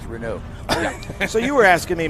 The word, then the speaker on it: Renault: first thing they said it's pronounced renew so you were asking